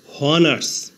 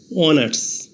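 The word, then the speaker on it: honours: করলে হয় হনারেবল কিন্তু এইচ এর উচ্চারণ না হয়ে ভাওয়েল ও থেকে উচ্চারণ শুরু হয়েছে অনারাবল এইচ এর উচ্চারণ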